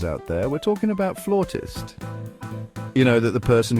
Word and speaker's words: flautist: Some folks go with flutist, which I gotta say kind of sounds like a made-up insult, like, oh man, you just got flutisted. But I digress. The real deal, the correct pronunciation is flautist. Emphasis on the R sound there. Now, I know what you're thinking, but trust me, it's the way the cool kids say it.